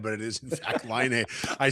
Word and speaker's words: Laine: I was reading a story this morning about Patrick Kane, and I got Laine in my head, but it is in fact Laine.